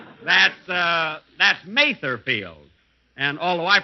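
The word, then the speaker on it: Mather Field: Here it is, Mother's Day, and we're at Mother Field. That's Matherfield. And although I pronounced it wrong last week.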